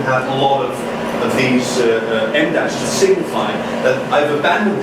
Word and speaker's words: em dash: It's the size of an M. That's why it's called an M dash, even though it's spelled EM dash.